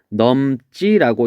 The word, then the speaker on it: 넘지: 그래서 얘를 된 소리로 발음하니까 어떻게 발음되냐면 넘지라고 이렇게 발음이 됩니다.